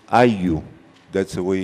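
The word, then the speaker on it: ayllu: It's ayu, that's the way it's pronounced, ayu. It's spelled A-Y-L-L-U. In Spanish, double L is has the sound of a y.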